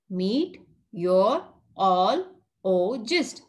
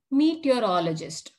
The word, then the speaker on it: meteorologist: Meteorologist. Say it like this. Meet your all o gist. Meteorologist.